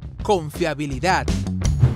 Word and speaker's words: confiabilidad: Cuando tú pronuncias confiabilidad, ¿dónde sientes que hay una mayor entonación? ¿Dónde está? ¿Dónde escuchas que haces esa mayor fuerza? Justo en la última sílaba. Muy bien. En la última sílaba decíamos que si la palabra tiene la fuerza o la sílaba tónica en la última, como en el caso de confiabilidad, es aguda.